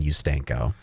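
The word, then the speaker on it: Ustanko: u-s-t-a-n-k-o and I thought there's no way to pronounce that other than you stanko and so that was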